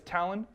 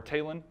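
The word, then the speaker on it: Talion: well you play as Talon or talen depending on how you want to pronounce it who was a ranger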